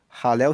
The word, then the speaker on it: Halel: Halel se escreve H a L e L.